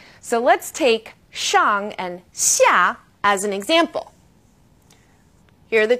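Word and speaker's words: 下: Now this sound is somewhere in the middle of SH and S.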